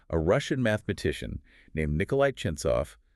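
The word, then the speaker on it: Ченцов: In 1972, a Russian mathematician named Nikolai Chentsov, pronounced Chentsov, asked a really profound question.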